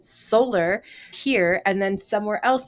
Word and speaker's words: Soler: it was pronounced ounc I thought we pronounced It Solar here and then somewhere